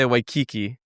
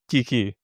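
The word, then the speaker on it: Waikīkī: So, a lot of people say w kiki maybe because of the song in the island of Wiki, but it's Wiki.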